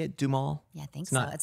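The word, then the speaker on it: Duhamel: how you say it dumal yeah thank you some people say do hamel oh really yeah because it's spelled like with h yeah i think it's doom i love that guy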